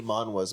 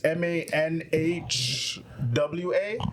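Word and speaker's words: manhwa: me cuz it's it's it's what Ma it's m NH wa I thought it's wh ha is it wh ha we have pH actually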